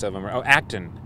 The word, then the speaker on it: Acton: Oh, Acton. It looks like it's spelled action, but it's without the I.